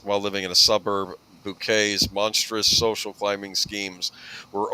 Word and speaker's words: Bucket: She played the character of Hyacinth Bouquet, as she pronounced it. Everyone else called her Mrs. Bucket. Insisting it was pronounced bouquet, Hyacinth Yes.